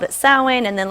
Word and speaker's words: Samhain: called it Samhain. It's spelled Samhain, S-A-M, but it's pronounced Samhain.